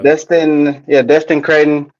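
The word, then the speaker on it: Destin Cretton: First off, props to Destin Credden. Is that how you say his name? Yep. Yeah. Destin Credden.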